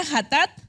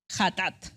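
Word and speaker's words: חטאת: Qué quiere decir esto se pronuncia hathat hathat en hebreo una ofrenda por el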